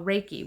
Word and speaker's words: Reiki: word Reiki okay what you what we call raiki we spell it re e i k i when you